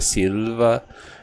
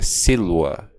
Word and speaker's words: silva: Até a pronúncia eclesiástica, que seria silva e tem a pronúncia clássica, que é silua. O v é pronunciado como se fosse um u.